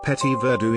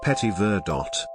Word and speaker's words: Petit Verdot: Earlier on he said Petit Verdot instead of Petit Verdot.